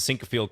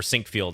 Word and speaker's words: Sinquefield: u.s championships uh they host the sink field cup or sink field i should say that's the proper pronunciation i believe how can